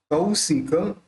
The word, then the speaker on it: कौशिक: देखिए क के ऊपर दो मात्रा है और काना भी है, तो क्या बोलना चाहिए? कौ, कौशिक शिशुर्य।